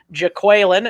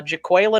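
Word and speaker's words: Jaquelin: PR came out and released the pronunciation today Jacqueline it's not Jacqueline uh jaquille and Roy from LSU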